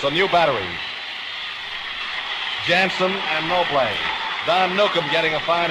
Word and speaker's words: Noble: Brooklyn Dodgers with Rayfield noé nolé spelled as though it were pronounced Noble doing the catching for the Giants a new battery Jansen and no play Don Nukem getting a